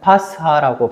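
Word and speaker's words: פסחא: 그리고 어 바스카는 이제 히브리 말 패스에서 유례하였고 예수님께서 사랑 사용하신 아라머르는 파스하라고 발음하고 있습니다.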